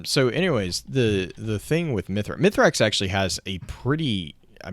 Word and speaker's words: Mithrax: I think it's Misax. I always mispronounce It this.